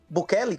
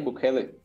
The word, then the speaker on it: Bukele: Você acha que outros países vão seguir o exemplo de de Bukell? Como é que chama? Pronuncia o nome do cara corretamente? Naí Bukele.